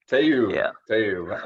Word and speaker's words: Tayub: We interview real estate investors, we interview entrepreneurs, and today I've got a special guest, Tayeb. Did I pronounce that right? Tayeb. Tayeb.